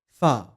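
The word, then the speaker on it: فاء: The next letter is fa. To pronounce it correctly, place your lower lip underneath the front teeth of upper jaw and say fa.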